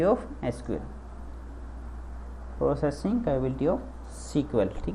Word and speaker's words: SQL: ठीक है, इट is pronounced as सीक्वेल। एसक्यूएल को हम क्या बोलते हैं, सीक्वेल बोलते हैं।